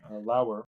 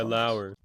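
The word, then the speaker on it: Loewer: whole by Barry I'm going to say his name wrong lower lower l o e w r either way um whole section yeah ler L thank you um yes uh and and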